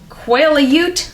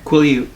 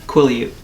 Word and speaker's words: Quileute: Quail-a-ute? What is that? Quileute. What? Quail-a-ute? Quileute. You pronounce the T at the end? Yes.